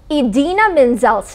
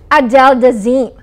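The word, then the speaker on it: Idina Menzel: a new internet star Travolta mispronounced Broadway star edena Menzel's name introducing her as Adel deim the internet was R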